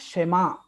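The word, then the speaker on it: שמע: Jadi ini dibacanya Shema.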